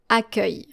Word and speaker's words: accueil: Accueil. Accueil. Accueil. So your final L is actually silent. Accueil.